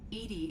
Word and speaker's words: EDI: a jar wow why are you named edie edie is the phonetic pronunciation of edi that is an acronym for